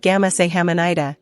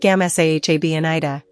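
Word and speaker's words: 감사합니다: So, it sounds like gam sa ham ni da, not gam sa jam ni da.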